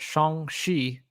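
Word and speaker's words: Shang-Chi: first of all uh kevin feige pronounced it shong shi so we were kind of falling somewhere and halfway in between i'm going to say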